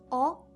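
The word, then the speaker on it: を: enter her the baby in XXX sound as oh but when Japanese people write romaji they write it as war but it's never pronounced like war it's always hot spot as a particle or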